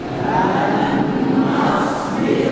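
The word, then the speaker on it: لن نصبر: idgam nun tasydid hmm Bagaimana membacanya LAN nasbir nasbir ingat baik-baik yang pertama tadi ya harus ynya itu bertas tasdidal nah nunnya begitu juga lan nasbir lanasbir nah setengah Nun masuk ke dalam Nun yang bertas bertasdid atau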